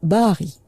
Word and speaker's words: Barry: Mais ajouter un R, un double R et mettre un Y, ça ne change rien à la prononciation tirée de l'arabe, Bahari.